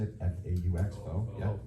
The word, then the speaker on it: faux: The faux bricks, I guess that's how you say it, F-A-U-X, faux, yeah, all right.